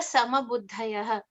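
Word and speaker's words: समबुद्धयः: So like as in Buddha, the enlightened one, the ninth in the line of the Dashavataras. So Buddha. So you pronounce this the same way as you would pronounce the word Buddha.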